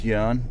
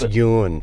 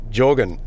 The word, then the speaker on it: Jørgen: Niels Jørgen. Oh, so it's just Jørgen. See, I would say Jorgen. Yeah, Jørgen. Jørgen. Like a Y.